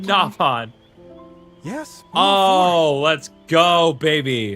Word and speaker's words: Nopon: He said Nopon.